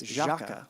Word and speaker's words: Jâca: It's Jâca. And it's hard to say. We tried to make it a little easier with that cool accent symbol over the A, but actually ended up making it harder.